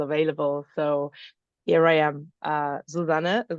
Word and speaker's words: Susanne: pronounced your name, Susanne.